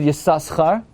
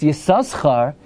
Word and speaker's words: Yissaschar: If it's pronounced Yissaschar, at the very least you need to have a dot on the left side.